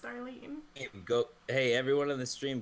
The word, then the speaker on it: Starline: Starline Hodge, pronounced Starlene.